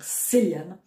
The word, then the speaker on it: Cillian: En irlandais, le C, c'est un K.